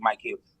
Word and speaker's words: Micheals: like rip Mike heels it's not Michaels it's actually Mike heels if you look how